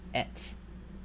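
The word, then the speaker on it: את: This word is easy to pronounce. This is just et.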